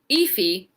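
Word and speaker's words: Aoife: and learned how to say this name today ify valkyrie because a british man said and i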